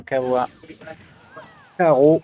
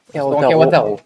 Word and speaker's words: Kawataro: Et on remercie bien sûr le restaurant Kawa Karo, si je le prononce bien. Kawataro.